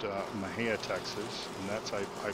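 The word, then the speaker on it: Mexia: Nicole Smith was from a little town called Maha not very many people know how to pronounce that it's actually spelled m x i a and it's pronounced uh Maha Texas and that's I I believe that's where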